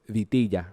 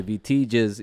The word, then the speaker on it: Vitillaz: too well if you do the double L Spanish thing, you know, the J thing. People say Vitillaz, you know, it's kind of like, okay. But it comes across a little bit easier and pronounced a little bit easier in English if I just say Vitillaz.